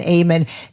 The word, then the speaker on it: Ehmann: outside but just gorgeous on the inside amen amen amen well it's not bad so anyway I was like it's pronounced Amos she's like Amen yeah that doesn't suck as